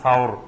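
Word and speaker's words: ثور: নূর আর জাবালে সুর এই জাবালে সুর বা এটা শুদ্ধ উচ্চারণ হলো বলে সাওর এই সাওর পাহাড়ের গুহায়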